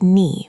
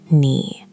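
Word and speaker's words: 你: Good start, but you said it flat, like nee, with no movement. Tone three has to dip. Imagine your voice walking down into a valley and climbing back out.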